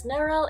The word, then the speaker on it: Neryl: And for anyone wondering, my name is pronounced as Neryl. It's like Meryl, but with an N.